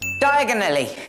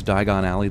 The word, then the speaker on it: Diagon Alley: eyeglasses for f sake diagonally wouldn't Harry have to be like American to mispronounce Diagon Alley the way he does it helps Advance the plot